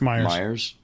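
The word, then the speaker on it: Meijer: The article we're pointing to claims that this was seen at, is it Measure? Myers. I don't know how to pronounce it. It's Myers.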